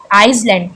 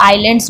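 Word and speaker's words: islands: ट the thing is कि आइलैंड्स आइसलैंड कुछ कुछ बोलते हैं ना आइसलैंड आई एस एल ए एंड एस मतलब एस को भी प्रोनाउंस करते हैं जबक एस क्या है साइलें है यहां पे हम इसको आइलैंड्स बोलते हैं ठीक है आइलैंड्स नॉट आइसलैंड that is आइलैंड्स ठीक है सो अब हम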